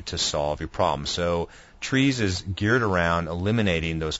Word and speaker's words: TRIZ: this simple newsletter now the correct pronunciation for the acronym is trees but you'll hear people